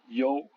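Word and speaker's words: 有: YOU se prononce yo, par exemple le verbe avoir, yo.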